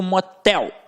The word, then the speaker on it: motel: Quando eu digo motel, motel, tel ficou com a sílaba mais forte, que é a última, portanto uma oxítona. Marajá, o já é a última sílaba e ficou mais forte.